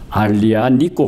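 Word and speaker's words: Aglianico: 이걸 아무리 아니 있고 그런데 이탈리아의 뭐 자음 의지는 어 발음을 하지 않기 때문에 쥐를 빼버리고 발음을 하면 알리 안믿고 가 됩니다 아니 아니 있고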